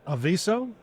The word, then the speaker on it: Aviso: today is Amit Pandy he's a CMO of aiso is that how we pronounce it that's correct and it's a really